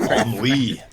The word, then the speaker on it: Henri: The way you pronounce it was very like ennui. Like Henri.